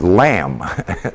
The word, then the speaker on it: lamb: down this Islam the letter Lum which is lamb all right okay did I did need to